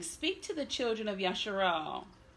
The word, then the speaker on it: Yashar'al: It's Yashar'al, incorrectly rendered Yisrael. That'll be another teaching for another day. But when I say Yashar'al, know that I'm referring to the nation of Yisrael, or Israel, as some pronounce it.